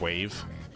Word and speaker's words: WAV: You know what's funny is it's actually pronounced dot wave, but like no E, so.